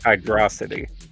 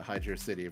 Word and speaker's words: Hydrocity: Personally, I pronounce it hydrosity. Yeah, there you go. That's the real. That's the real discourse. Is the Hydrocity versus Hydrosity.